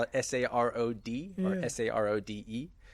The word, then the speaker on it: Sarod: You can spell it Sarod or Sarode. It looks like Sarodi, but it's Sarod.